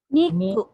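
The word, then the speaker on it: にく: Niku. Niku. Niku. Niku. Niku. Niku. Niku. Niku. Niku. Yan. Niku. Niku. Matigas ang pagka-pronounce.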